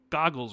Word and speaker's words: Goggles: It's goggles, not Googles. Okay, so Goggles lens.